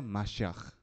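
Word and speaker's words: מָשִׁיחַ: Y en hebreo se le dice Mesías y se pronuncia Mashiach. No importa cómo se pronuncia.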